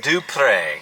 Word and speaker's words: Dupree: name dupree it's prince it's spelled dupree but it's pronounced and then i tell them it's do pray so do pray every day but you be saying